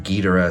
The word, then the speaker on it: Ghidorah: I choose to go with the pronunciation King Ghidorah, since that's more derived from the original Japanese pronunciation.